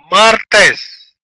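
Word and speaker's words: martes: لوس لوس لوس لوس تنطق جميع الحروف مارتس مارتس مارتس مارتس مارتس ار ار ار ا امي اي اس سهله جدا مارتس مارتس هنا من طبيعه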